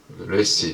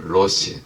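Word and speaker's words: ריש: 자, 그리고 다시 한번 상형문자고 이 머리 모양이고, 머리 레시 혹은 로시, 때로는 로시라고도 발음하기도 하고 그래요.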